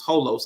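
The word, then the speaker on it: ὅλος: I know one of the Greek words was holos like h o l oos the way we would say it but the Greek letters I don't know the Greek words but I know it's pronounced holos I did the whole you know strongs concordance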